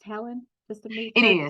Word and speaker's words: Helon: So, is it pronounced Helen?